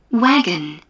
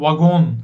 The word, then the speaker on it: wagon: Bunu vagon falan böyle acayip şekilde. Wagon. Wagon. Tamam. Wagon da değil bu arada. Oraya kayabilirsiniz. Bu İngilizce'nin okunuşu biraz acayip maalesef değişiyor. Wagon da değil. Wagon. Wagon.